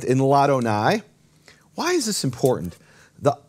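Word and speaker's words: לַאדֹנָי: La Adonai becomes Ladonai. And what happens is the vowel drops from the aleph, and the aleph is silent.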